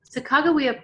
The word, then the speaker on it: Sacagawea: Next, I'll be reading a book about Sacagawea, or some people pronounce her name Sacagawea.